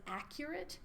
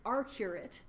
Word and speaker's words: arcuate: our arcurate nucleus which i for the longest time read as accurate and then i couldn't understand why the acronym was arc but it's arcuate so hopefully i don't